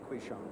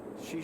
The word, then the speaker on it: Qishan: The Q was pronounced She? Yeah, she. She? I can pronounce Wang Quishang. It's what? How do you say it? Shishan. Shishan? He's Wang Quishang. It's Shishan? She. Wang Shishan? Yeah. Do you know anybody who pronounces it like that? About 1 billion.